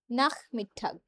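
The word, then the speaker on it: Nachmittag: টায় শেষ হয় দুইটায় দেয়া নাখ না মিথ্যাক নাখ মিথ্যাক এই যে সে হা এর আগে আছে উচ্চারণ হয়ে গেছে নাখ না একটু খ টাইপের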